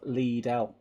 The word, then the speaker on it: Lidl: The actual name is pronounced Lidl. As I say, I'm sure you're right. I'm just saying every person in this country, Lidl.